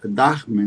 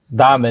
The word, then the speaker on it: Dahmen: Professor Darman, né? Darman. Damen, né? O H ele só faz o A ficar comprido, ele não pronuncia o H.